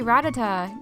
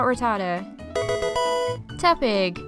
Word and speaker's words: Rattata: I biar not bibero this thing is actually ratata not rata teig a lot of people refer to this thing